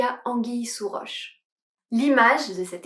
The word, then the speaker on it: anguille: Attention à la prononciation "anguille" avec le son « i ». Une anguille.